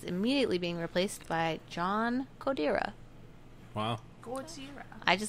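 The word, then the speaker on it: Kodera: It's probably like Codera. I don't know. It's like K-O-D-E-R-A. But it's like immediate. Cotera. Yeah, I thought Cotera too.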